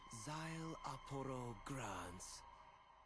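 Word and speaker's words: Szayelaporro: But for you, my full name is simply pronounced Z Apo.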